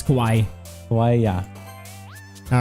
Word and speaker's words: kawaii: It's kawaii.